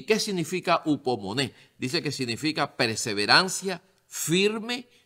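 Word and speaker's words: ὑπομονή: y dice que se se pronuncia en el griego hubo Money imagínate y Qué significa upomoné dice que significa perseverancia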